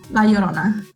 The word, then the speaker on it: La Llorona: La Llorona, is that right? Like the crying lady? Llorona, yeah, the Llorona. Did I say it right? Kind of. It's like a Y, La Llorona.